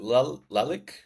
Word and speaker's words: Lalic: All right, welcome back to Startup Today's podcast episode 7, where we've got Alan, is it Lalic? Sorry, That's I fine, don't Matt. want to Yeah, mess that Lalic, that's pronunciation fine.